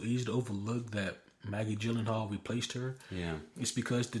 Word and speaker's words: Gyllenhaal: Pronouncing names correctly. Gyllenhaal.